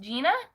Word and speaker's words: Gianna: gina that's your name gianna your name's pronounced gina nice oh my goodness